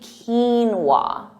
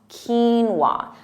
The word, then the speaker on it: quinoa: quwa but it's actually quinoa quinoa so that emphasis on Keen quinoa repeat that quinoa now